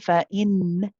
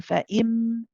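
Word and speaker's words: بِإِمْ: See, I'm not saying fa'in. I'm saying fa'im.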